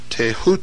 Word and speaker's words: Thoth: scribe of the gods Thoth pronounced taehu T the so-called Emerald